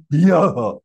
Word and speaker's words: ह्यः: Actually, it is yah, yah. Because ha is half. So, yah. But you cannot normally pronounce. So, we pronounce it yah.